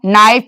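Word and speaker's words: knight: अगर के एन शुरू में है तो के का उच्चारण नहीं होगा। नो नाइट नी नॉक नीट और यहां पे कुछ और पड़े हैं।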